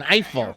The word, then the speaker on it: Eiffel: Say it like an American. Eiffel.